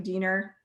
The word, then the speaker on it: Diener: a guy named matthew diener and left this one star review for um this bar and they respond with fun fact your name rhymes with weiner which is hilarious like